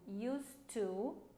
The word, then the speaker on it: used to: Vocês veem que a pronúncia do used to com o D used to, sem o D na pergunta e na negativa, é a mesma, tá, gente?